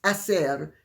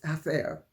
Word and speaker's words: hacer: And you can tell it because of the way she sometimes pronounces the C as TH instead of as. So instead of saying, for instance, hacer, she says hacer, which I speak Castilian